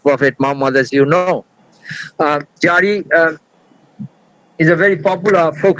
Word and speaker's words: Jari: The word Jari has originated from the Persian word Zari, Zaridan. Z cannot be pronounced in Bengali, so Zari has been replaced with Jari, Jari.